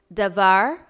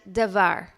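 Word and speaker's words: דבר: words for this week the first two words are pronounced exactly the same davar and davar the first one however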